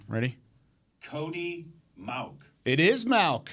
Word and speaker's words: Mauch: I've got a pronunciation here. Ready? Cody Mauch. It is Malk.